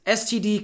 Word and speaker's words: std: colon c out and there is a pretty substantial school of thought that when we see this token here they want to pronounce that like a word i don't know how to pronounce words that don't have vowels and so i just spell it out scd colon colon std